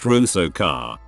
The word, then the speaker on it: Rusalka: It's Rusalka, pronounced Rusoka, and a similar demon is